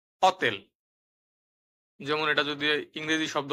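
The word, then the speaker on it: hotel: তিন নাম্বারে দেখুন আক্কা অক্ষরটি সবসময় নিঃশব্দে থাকে উচ্চারণ হয় না অথবা ইংরেজিতে আমরা যেটাকে বলতাম উজ্য থাকে ঠিক আছে উদাহরণ অতেল অতেল যেমন এটা যদি ইংরেজি শব্দ হতো তাহলে হতো হোটেল কিন্তু যেহেতু এটা ইতালিয়ান শব্দ এই উচ্চারণটি হবে অত্তেল।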